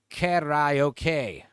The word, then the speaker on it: karaoke: In Japan, it's pronounced karaoke.